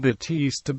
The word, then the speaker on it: Baptiste: The modern form Batiste Baptiste comes from a popular merge with the surname Baptiste, pronounced Batiste, as indicated by the